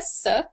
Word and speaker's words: Sook: my name is sook it rhymes with book which was a great